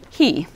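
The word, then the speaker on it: היא: top word is the word meaning she interestingly enough it's pronounced he so try that for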